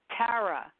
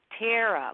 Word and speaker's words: Tara: from New York and my name is actually pronounced Tara but nobody can say Tara unless they're from New York I usually get Tara like tear a piece of paper and a half and